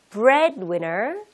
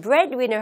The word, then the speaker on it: breadwinner: 이 두 개를 붙여서 읽을 때 bread의 D부분, 중간에 있는 D부분의 소리가 거의 나질 않아요. 그래서 breadwinner, breadwinner, 굳이 breadwinner 이렇게 하실 필요가 없으세요. 아시겠죠? 자, 같이 한번 breadwinner 하며 두 번 읽어볼게요.